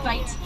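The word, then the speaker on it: wyd: They get that name from the mispronunciation of an Afrikaans word, bite, meaning wide, as reference to the shape of their mouth.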